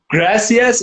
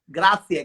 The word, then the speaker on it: Grazie: Gracias, is it right? Grazie. Grazie. In Spanish. Grazie in Italian.